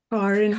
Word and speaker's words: Karen: Karen. Karen. Karen. Car in the street.